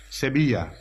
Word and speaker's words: Sevilla: Hale London it reads throughout Seville it is pronounced in Spanish Sevilla a polygamous Arabic name